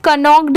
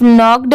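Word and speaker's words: knocked: क्या पढ़ेंगे नॉक्ड पर बहुत सारे लोग यह सोचेंगे कि इसे कनक क्यों नहीं पढ़ेंगे क्योंकि यहां पर तो के दिया हुआ है पर नहीं यहां पर जो के दिया हुआ है यह साइलेंट है इसे सिर्फ नॉक्ड पढ़ेंगे अगर आपने मेरी साइलेंट वर्ड्स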